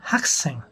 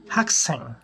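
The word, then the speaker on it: 학생: করবো ইয়াক ইয়াক উচ্চারণ করতে হবে শিকতাং শিকতাং হাকসেং উচ্চারণ হবে হাকসেং হাকসেং হাকসেং ওকে ধন্যবাদ সবাইকে ভিডিওটি দেখার জন্য আসসালামু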